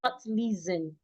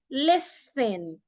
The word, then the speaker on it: listen: the word is not leisten the word is listen the t is silent but then the S should be articulated like a s not like a zed listen not listen when